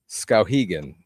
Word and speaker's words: Skowhegan: It's pronounced Skowhegan. Sorry, Joanne. But thank you for correcting me on that. Cowhegan. Skowhegan, or something like that.